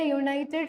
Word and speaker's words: United: It's not a vowel sound. It's a consonant sound.